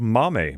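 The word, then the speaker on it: Maame: rut already yeah um this is called Mommy but it's uh m-a-a-m-e so I believe I pronounced it correctly uh by Jessica George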